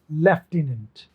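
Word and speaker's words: lieutenant: देखिए, LIETUENT, कहीं इसको आप, इसमें आपको F दिखाई दे रहा है क्या, लेकिन जो ये EUIEU है ना, ये बनेगा F, लेफ्टिनेंट, लेफ्टिनेंट।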